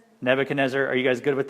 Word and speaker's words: Nebuchadnezzar: don't like the way I say his name Nebuchadnezzar Nebuchadnezzar are you guys good with that pronunciation okay I like I always said it